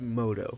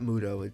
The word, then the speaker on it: Muto: In this scenario, you will be taking on the role of the legendary Yugi Moto. It's Moto, not Muto. It's a U, but they pronounce it Moto.